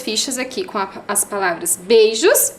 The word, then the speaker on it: beijos: Lembra que falou que tinha 2 sílabas? Beijos. B-E-I, 3 letras. Jos, J-O-S, 3 letras.